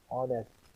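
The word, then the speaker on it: honest: کا تلفظ نہیں ہوتا۔ اب ان لفظوں کا تلفظ کرو۔ رانگ، نو، نتھنگ، آنیسٹ، پام۔ رانگ، نو، نتھنگ، آنیسٹ، پام۔ اب دیکھیے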